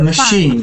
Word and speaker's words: machine: it's not a machine a machine second syllable stress machine it's not a